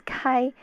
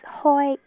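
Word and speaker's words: 開: Kai, the last character is Kai. Cantonese. Wait, no, that was Mandarin. Mandarin is Kai. Cantonese is Hoi.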